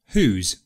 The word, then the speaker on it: whose: pose though there is one other word whose pronunciation is ooze in fact I just said it whose so there you have